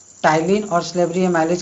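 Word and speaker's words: Ptyalin: Amylase, जिसको हम लोग टाइलिन भी कहते हैं। यहाँ पी से स्टार्ट होता है लेकिन यहाँ पी साइलेंट होता है, इसलिए हम इसको टाइलिन पढ़ते हैं।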